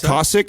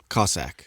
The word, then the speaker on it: Cossack: some job squats cossack is it classic or cossack cossack yeah spell it justin yeah